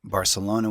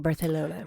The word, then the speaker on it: Barcelona: But you're supposed to say it like Barcelona. That's how you know you were there. It's the Castilian Spanish.